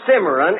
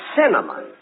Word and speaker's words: cinnamon: Look, it isn't simmering. It's cinnamon.